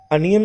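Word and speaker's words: onion: अनियन बोला जाता है, ओनियन नहीं बोला जाता। एक तो ये अनियन का स्टार्टिंग वाला जो ओ है उसमें उल्टा वी वाला सिंबल लगेगा, और ये जो आई ओ है यहाँ पर अगर अ का साउंड है तो उल्टा ई लगेगा।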